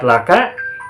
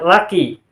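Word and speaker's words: لكِ: Sehingga tidak mungkin dibaca menjadi laisat laka, tapi menjadi laisat laki.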